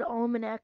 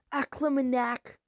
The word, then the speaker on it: Almanac: in the Almond act I think that that might have been the first time I said Almanac correctly cuz usually I say it like aamac let me see I